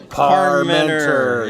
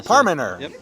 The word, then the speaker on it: Parmenter: See, I want to pronounce that T all the time, but it's like silent T, or do you say Parmenter or Parmenter? Parmenter, yeah. Okay, so the T is good.